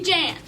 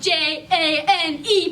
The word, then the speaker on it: Jane: They call me Jan. That's spelled J-A-N-E, but the E is silent, so don't you guys call me Jane.